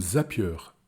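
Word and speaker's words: Zapier: temps et bien automatisez-les utilisez des outils comme zapieur Z a P i e r ou i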